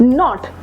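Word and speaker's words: knot: यू कैन see that when ever there is a word that begin with के एंड एन वी are going to keep the के silent and हम word को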